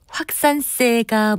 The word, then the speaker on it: 확산세: 있어서 우려된다고 할 때 확산세가 무섭다고 하는 것을 종종 들을 수 있습니다. 그렇다면 확산세 맞는 발음일까요? 결론부터 말씀드리면 이 단어는 마지막 음절을 확산세처럼 된소리로 발음하지 않고요. 확산세라고 예사소리로 발음하는 것이 맞습니다.